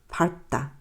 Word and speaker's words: 밟다: 밟다. 밟다는요. 밟다는 밥으로만 발음됩니다. 전부 다. 네, 뒤에 자음이 오면 일단 밥으로만 발음돼요.